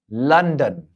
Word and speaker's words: London: เหมือน รอ เรียง แ อากาศ for ฟัน Love London London ไม่ ใช่ ลอ อ่ะ อนอ อัน นั้น แบบ ไทย นะ ครับ London สุด ท้าย mother mother mother นะ ครับ อ่า